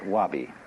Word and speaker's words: wabi: which uh are basic the first is sabii and that goes along with something that rhymes with it Wabi so often Japanese people